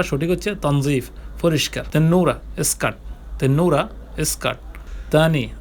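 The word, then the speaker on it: تنظيف: যেটা আরবিতে তানজিফ বলে উচ্চারণ তানজিফ বলে বা উচ্চারণটা সঠিক হচ্ছে তানজিফ পরিষ্কাররা স্কার্ট তেনুরা স্কার্ট তানি আবার বা পুনরায়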